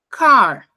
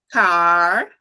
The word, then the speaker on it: car: gente tem é Car Então esse a tem um som a bem aberto Car se eu coloco um e ali do lado esse a vai virar um som de E então Car virou care sempre que tiver vogal consoante o e no final vai mudar o som da palavra isso se tiver algum